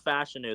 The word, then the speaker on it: Fashanu: Yeah, Olu Fashanu.